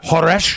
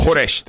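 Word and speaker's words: خورشت: And you said the word there, was it khoresh? Is that what Khoresht. Okay. Khoresht. Yeah.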